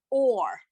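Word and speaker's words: אור: right thank you so we have a silent letter the o sound and then the r sound at the end or all right thank you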